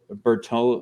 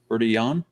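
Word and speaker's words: Bertillon: anthropologist i don't speak french so forgive my pronunciation but alphonse berto uh how do you say that ryan bertie yawn probably better leon yeah yeah there you go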